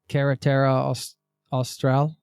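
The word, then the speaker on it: Carretera Austral: Did you hitchhike the Kerata Austral? Am I pronouncing that correctly?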